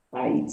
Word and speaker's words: país: País. O meu país é o Brasil? País.